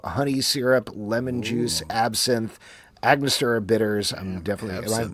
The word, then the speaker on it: Angostura: It is rye whiskey, Amaro, honey syrup, lemon juice, absinthe, Angostura bitters. I'm definitely, am I mispronouncing that?